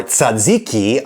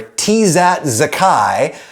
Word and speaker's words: tzatziki: If, however, I were to ask for tizat zakai, they probably wouldn't have any idea what the hell I was talking about, and I wouldn't get what I wanted. And therefore, that pronunciation, you could say, is objectively wrong, at least vis-a-vis intelligibility,